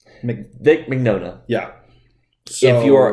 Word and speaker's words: Mignogna: Vic Mignogna.